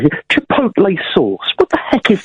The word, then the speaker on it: chipotle: come around right here chipotle sauce what the heck is that chipotle yeah and it's pronounced Chipotle is that that's kind